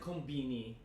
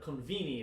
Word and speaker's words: konbini: We pronounce it konbini, but konvini is technically what it is.